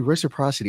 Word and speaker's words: reciprocity: it down now re did I say it wrong I said rocity reci reciprocity it's actually reciprocity oh my God and